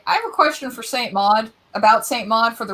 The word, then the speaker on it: Saint Maud: So actually, it's pronounced Saint Maud.